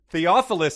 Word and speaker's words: Theophilus: from greek to english that first character is a theta that is pronounced with a th sound and most definitely not a hard t what's more the first